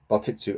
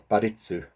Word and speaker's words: Bartitsu: but he noticed that he mispronounced uh batitsu as baritsu and also if he's